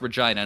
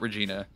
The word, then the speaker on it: Regina: one of the western provinces uh but it's pronounced regina not regina lucia the only lucha i know is saint